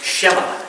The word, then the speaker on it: Shema: And it's pronounced Shema, S-H-E-M-A. Do you see it? You see it? Okay, everybody say that word, okay? Shema. All right, that's a Hebrew word, okay? It is sometimes pronounced Shema or Shema, okay?